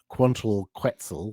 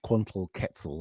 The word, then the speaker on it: Quantal Quetzal: um because 12 10 quantal quetzal or quantal quetzal or have have you pronounce it was the first release